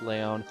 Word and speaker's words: Leon: oh yeah you're right it is pronounced leh own I am so bad